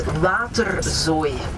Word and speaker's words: waterzooi: As I said, our French fries, our mussels, les moules, Also, maybe a little bit difficult to pronounce, it's waterzooi.